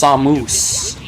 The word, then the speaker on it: Samus: You know, I remember I read in Nintendo Power once they're like, "Samos's name is pronounced Samoose with like long vowels."